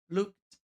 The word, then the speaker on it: looked: Essa outra palavra aqui, embora termine com ed, a gente vai falar looked, looked, looked. But the happy prince looked so sad. É um som de T, não é ed, o som não é ed, mas T.